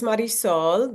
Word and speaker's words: Marisol: so my name is Maris Soul the last part of my name is soul which means son so my business is